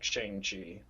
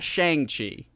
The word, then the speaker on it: Shang-Chi: sean i think like is it just shang or is it like sean with a g type of pronunciation like a shanghai from what i got in the movie i'm pretty sure it's like changi it's it's not shang it's not shang chi i know that's the